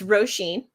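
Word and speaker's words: Róisín: pronounce her name um but yes it's roshen it's a traditional Irish name um wanted to have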